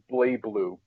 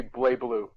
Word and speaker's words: BlazBlue: It's like, but it's BlazBlue. The Z is silent. Oh. It's supposed to be BlazBlue. Yeah. A silent Z? All right. Yeah, it's like Buru.